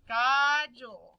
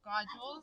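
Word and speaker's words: God jul: Christmas in Sweden is Godel Godel is how you say Merry Christmas so in a minute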